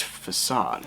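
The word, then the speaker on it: façade: a before us uh george it's pronounced facade no no here's what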